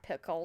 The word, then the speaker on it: Picoult: Yeah, Picoult.